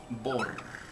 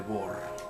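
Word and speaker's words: Bohr: ya es viejo es el modelo atómico de bor se escribe b o H R y esto ya no pinta bien pero a ver Trataré de que se vea Okay aquí tenemos el modelo atómico de bor en el centro están los electrones y los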